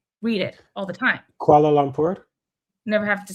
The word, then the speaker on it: Kuala Lumpur: Kuala Lumpur. Never have to say it. Kuala. Not koala, but Kuala Lumpur.